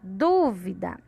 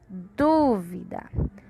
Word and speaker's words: dúvida: E aqui na palavra dúvida. Dúvida. Dúvida. Qual é a sílaba de maior som, que a gente fala com maior intensidade? É a sílaba do.